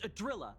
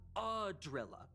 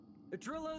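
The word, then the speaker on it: Idrila: It's Adrilla, not Adrilla.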